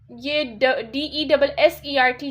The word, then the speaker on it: dessert: But for this word, ये DESSERT जो है ये मीठे की बात होती है. It's a sweet dish, right? And its pronunciation is different. Its pronunciation is dessert.